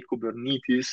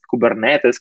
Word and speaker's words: Kubernetes: kubernetes uh so that's how i try to pronounce it the right way kubernetes but sometimes kubernetes comes out but so you know it's not